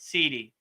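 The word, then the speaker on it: siddhi: S I D H I right sidi so it sounds like C D but it's really sidi so sidi means perfection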